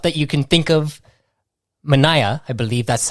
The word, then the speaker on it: Mineya: great creative stuff that you can think of Mana I believe that's how you pronounce it I'm sure people get it wrong um um can you introduce yourself to the audience hello yes um I'm manah um so you did get that correct that's